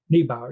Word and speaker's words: Niebauer: Niebauer? Niebauer, yeah.